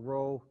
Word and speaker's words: rho: don't make them very well but it's called row it's called roll Greek letter Rho Rho a beez the way we spell that or pronounce that and in statistics if